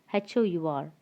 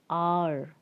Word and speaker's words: hour: H is silent, so you have to start with R sound. It's R. R. Okay, like how we pronounce ARE, you have to pronounce it in the same way. R, not hour. It's wrong. The pronunciation of HOUR is R.